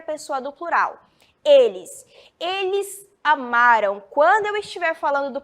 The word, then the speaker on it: amaram: já sabem a diferença passado a m amaram a pronúncia é esta eles Amarão muda a